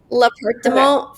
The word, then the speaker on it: L'Appartement: L'Appartement. Is that correct? Yeah. No. It's l'appartement. L'appartement 4F. I'll say it so you could hear what it sounds like when an American says it. L'appartement 4F.